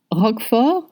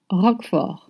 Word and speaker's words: Roquefort: Roquefort is blue cheese. Roquefort. See how it's spelled and how I pronounce it? Roquefort. You don't pronounce the T and you say Roquefort.